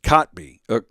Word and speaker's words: Kotb: And it's pronounced Kotb.